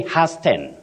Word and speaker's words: hasten: yes you don't say hasten hen no you say h h the t is silent don't pronounce that word